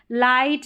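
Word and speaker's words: light: लाइट, नाइट, राइट, क्या है, लाइट, नाइट और राइट, यहाँ पर जी एच के कॉम्बिनेशन में जी साइलेंट है।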